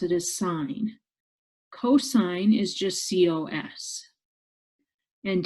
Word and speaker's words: sin: abbreviated sign will look like sin but we pronounce it as sine cosine is just cos and tangent is just